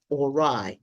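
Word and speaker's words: awry: A W R Y. Ora. That's the second one I'm pronouncing for you today.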